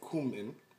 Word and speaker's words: cumin: start with a teaspoon of cumin or cumin or however you want to pronounce it then a teaspoon of